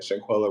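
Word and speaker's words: Shanquella: to shanguela I'll go say her name right shankwilla Robinson her family because the fact that the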